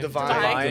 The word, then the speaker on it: Devine: Divine.